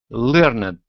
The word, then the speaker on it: learned: Learned. And try doing that little T sound instead of ed.